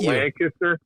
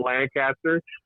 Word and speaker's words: Lancaster: Also, it's Lancaster, not Lancaster.